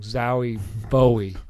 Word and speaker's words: Zowie Bowie: David Bowie named his kid Zowie. Well, I said it wrong. Zowie Bowie.